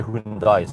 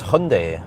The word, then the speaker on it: Hyundai: It's called Hyundai. Yeah, but I I just say say you usually say Hundai. So that's that's wrong. I know it's wrong. It's Hyundai or Hyundai.